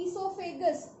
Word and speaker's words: oesophagus: Then the partially slightly digested food moves down into the esophagus. Here please note the spelling. O is silent.